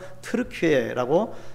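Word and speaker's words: 튀르키예: 용맹성을 그 뜻입니다 여러분 그래서 앞으로 발음이 좀 어렵지만 터키라고 안 하고 그리고 우리가 그날을 존중하는 의미에서 트루키의라고 불렸으면 좋겠습니다 자주 한이 드루킹의 큰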